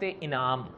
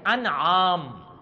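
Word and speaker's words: أنعام: पर ही सुन ले सूरत का नाम लेते हैं तो कहते हैं सूरत इनाम उन्होंने मिलता है जब कुछ तो वो इनाम होता है वो सूरत को इनाम इनाम कहते रहते हैं नहीं ये सूरत इनाम नहीं इनाम वो होता है जो लेट है इंसान या किसी को देता है ये है सूरते आम क्या अलिफ पर जबर पड़ा नाम कहते हैं जानवरों को चूंकि इस सूरत में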